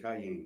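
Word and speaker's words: Kiyan: His son named Cayenne. Oh, Cayenne, right. Like cayenne pepper. Okay. But it's spelled K-I-Y-A-N.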